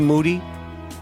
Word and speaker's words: Moody: of the Year Moody whose last name rhymes with Duty he's actually on vacation